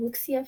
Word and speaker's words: wuxia: It has an X in it, so I kind of want to pronounce it like an English S, but I know better than to pronounce it like that.